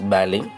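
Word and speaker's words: ballet: upstairs are practice B don't pronounce t is a silent the people upstairs all practice baly their living room is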